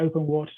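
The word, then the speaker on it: OpenWrt: open wrt on it open water i pronounce it um rather than the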